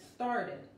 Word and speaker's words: started: Cuidado porque no se escucha una E antes, es started. Let's get started.